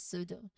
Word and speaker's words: pseudo: Next is pseudo. Again, the P at the beginning preceding an S. So the P is silent and it's pronounced as pseudo. Now for the P before T, consider pterodactyl.